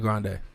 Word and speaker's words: Grande: she plays into the grande and that's not how you pronounce her last name what is it it's grand but she she plays